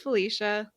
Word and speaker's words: Felicia: my name is that people always assume that it's pronounced in a fancy way because it sounds like it should be I guess but like every time I was at like a new class in college and they would take role it would be like Felicia it's just Felicia well that's like Alicia Silverstone she said it's pronounced